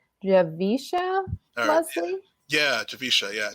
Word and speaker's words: Javicia Leslie: casting announcement, and I believe her name is pronounced Javicia Leslie? Yeah, Javicia. Yeah, Javicia Leslie.